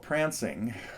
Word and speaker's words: Pfrancing: Max has put together a lesson on a Miles Davis tune called Pfrancing with a silent F.